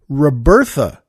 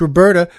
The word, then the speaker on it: Roberta: And the thing is, though, I pronounced it Robertha. So she wrote us a lovely note saying thanks and hi, but she said it's Roberta.